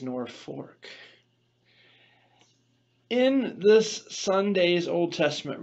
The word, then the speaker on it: Norfolk: and from now on the world looks at the spelling of the name of this town and says that's Norfolk but the people who know the story who know the town itself who grew up in the town say no this is nor fork in this Sunday's Old